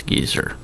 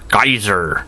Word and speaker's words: Gezer: It's hard to mispronounce this name because it's so obvious it's Godless Gezer. Let's pretend it's Godless Geyser.